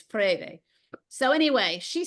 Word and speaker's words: Freire: Okay, that's how you say it. Some people say Paulo Freire, but it's Freire.